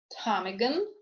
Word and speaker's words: ptarmigan: Okay, now is silent in the groups of letters PN, PS, PT. For example, pneumonia, pneumatic, psychic, pseudo, ptarmigan, receipt.